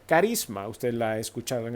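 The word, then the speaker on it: χάρισμα: que se produce verdad se pronuncia carisma usted la ha escuchado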